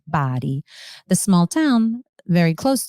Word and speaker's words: Bari: It's spelled Bari. So some people may pronounce it as Bari, but it's pronounced Bari.